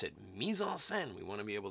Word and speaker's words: mise-en-scène: put into the scene and i've got the pronunciation there misonsen right you should just say it with me